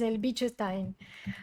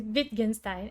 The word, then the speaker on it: Wittgenstein: cuando me escucha hablar, dice que es el bicho Stein, así, el bicho Stein, con el bicho Stein. Es Wittgenstein, es que él es austríaco y por eso tiene el nombre así, se pronuncia así.